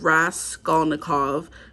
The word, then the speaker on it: Raskolnikov: So Rodion Raskolnikov, Crime and Punishment by Fyodor Dostoevsky. Yeah, that's how it's pronounced.